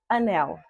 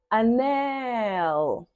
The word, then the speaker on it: anel: Vamos a outra palavra, anel. Anel, anel. Percebeu? Qual é a sílaba tônica? Nel. Pois é a sílaba que mais se estende.